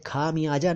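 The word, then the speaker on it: ख़मयाज़ा: और जल्दी में बोले तो भी खमियाजा ना बोलकर खमयाजा बोलना चाहिए। खमियाजा नहीं, खमयाजा, खमयाजा, खमयाजा।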